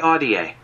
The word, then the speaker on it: Ahdieh: on okay let's see google's gonna tell us renee audie renee audier okay yeah okay the